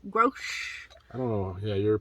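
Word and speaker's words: Grosche: Next up, this is a Grosh, not gross, Grosh.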